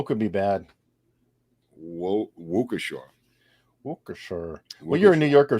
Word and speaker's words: Waukesha: where it was right right um whatever that pronunciation of that town is waukesha but wakasha it was yeah i think right right let's see let's not be local right could be bad wukasha well you're a new yorker so you haven't